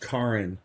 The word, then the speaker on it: Karen: She's Norwegian, so it's pronounced Karen. Karen. Oh. Yeah, but no, but it totally looks like Karen.